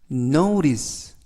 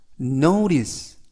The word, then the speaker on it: notice: 이번 표현은 notice, notice, notice 라고 발음하시면 되겠고요. 이때 발음에 유의하실 것은 T 발음이 트 발음이 나지 않고 연음에 의해서 트가 아니라 르, 그래서 notice가 아니라 notice, notice 라고 발음하시면 더 좋겠습니다.